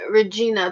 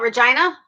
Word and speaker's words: Regina: nope I live in Regina people say it rhymes with something with something naughty yeah well I said